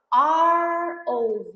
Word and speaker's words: ROV: Quando eu falo ROV operator, ROV operator, eu pronuncio A. A. É uma vogal. ROV. Tá bom? Eu escrevo com R. A letra em si é uma consoante, mas a pronúncia dela é vogal, R.